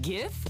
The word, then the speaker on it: GIF: Wait, GIF or GIF? Hard G.